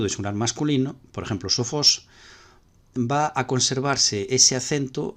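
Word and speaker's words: σοφός: Y podemos ver que el acento del masculino sofos, que es oxítono, pues se conserva en el femenino y en el neutro, igual.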